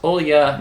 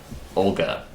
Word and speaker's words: Olga: And she told us her first name is pronounced Olya, not Olga.